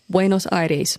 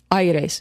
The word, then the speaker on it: Buenos Aires: Buenos Aires. Aires? Aires. Okay. Got to put a little I in It's there. not Aires. It's not Aires? Aires. No, there's no accent on it.